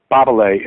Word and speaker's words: Babele: Babele is how they say it in Romanian.